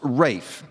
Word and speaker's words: Ralph: Although his first name is spelled R-A-L-P-H, it's pronounced Rafe.